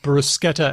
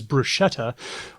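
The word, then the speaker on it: bruschetta: CNN has reported that pronouncing for example brusketa as brushetta will get you in trouble to the tune of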